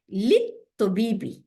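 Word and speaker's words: لِلطَّبِيبِ: হারফে জার, তারপরে তবিবি, এখানে লাম যে আছে, লামটা উচ্চারণ হয়নি, কেন উচ্চারণ হয়নি? কারণ আমরা জানি ত, ত হচ্ছে শামসি ওয়ার্ড, তাই না? লামটা গিয়ে শামসিকে ধরে ফেলছে, কিন্তু হ্যাঁ, ঠিকই আছে।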